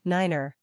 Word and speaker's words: niner: Cessna 8509-0 the number three is pronounced tree and the number five is pronounced Fife the number nine is pronounced Niner this has been adopted